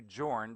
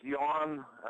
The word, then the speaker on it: Jorn: Most people call you Jorn because it's Jorn. So let's just start with that. But that's not how you pronounce it. It's pronounced Jan. The R is silent.